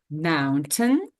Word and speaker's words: mountain: So mountain, right? Mountain. Mountain. Mountain. Very good. So mountain. Mountain. Mountain. Mountain. Yeah, you can see that we don't pronounce ein, we pronounce tin.